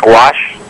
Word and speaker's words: gouache: e okay the one painting gouache it's it's pronounced gouache watercolor painting okay and they're two both of